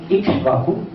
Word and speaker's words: Ikshvaku: And I know, and I've been told a lot of people have some problems in pronouncing Ikshvaku. It's Ikshvaku. Lord Ikshvaku was the founder of the Suryavansh, of the dynasty of the Sun God.